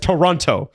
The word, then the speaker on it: Toronto: Of course back then you you you pronounce the second T. Yes. Toronto.